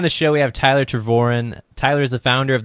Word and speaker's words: Tervooren: How do you pronounce it exactly? It's TERVOOREN. TERVOOREN. Yep, you got it. All right, cool. Today on the show, we have Tyler TERVOOREN.